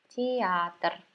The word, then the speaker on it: театр: This is это a theater, театр. Это театр. Okay. Here you can see letter E. Театр, but we never say like that. This syllable is unstressed, so we pronounce it as I.